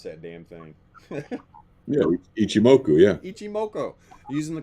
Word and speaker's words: Ichimoku: what's that damn thing ichimoku how do you pronounce that damn thing yeah ichimoku yeah ichim Moko using the cloud which how